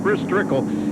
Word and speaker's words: Chris Trickle: Chris Trickle in the 70 car.